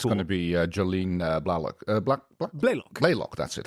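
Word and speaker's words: Blalock: was so it's going to be Jolene block Black Block that's it how you pronounce it yes she she she really carried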